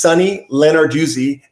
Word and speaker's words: Sunny Lenarduzzi: Yes, it's actually just Sunny Lenarduzzi, Lenarduzzi.